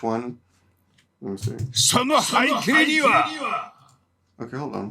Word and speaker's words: 背景: We can't really hear the E. It's haikei.